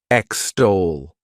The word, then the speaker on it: extol: is extol to extol this word has two syllables and the stress is on that second syllable extol what it means is